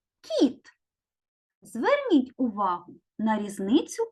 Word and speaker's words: кіт: звук к а слово кіт звук кі у слові кит перший звук к твердий а у слові кіт перший звук к м'який так от діти умовно